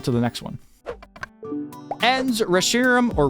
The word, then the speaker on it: Reshiram: Ends Reshiram or Reshiram. If Reshiram is the right way to pronounce his name, then I don't want to be right because Reshiram sounds weird to me.